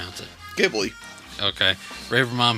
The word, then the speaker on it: Ghibli: But he also said that we are pronouncing it wrong. He says that it is Ghibli, not Ghibli.